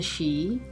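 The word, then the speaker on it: sidhe: within and around earth some of the she this word if you're not familiar with it is spelled s-i-d-h-e some of the she chose to stay here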